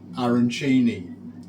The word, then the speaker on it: arancini: a starters, and these are, I think they're pronounced arancini.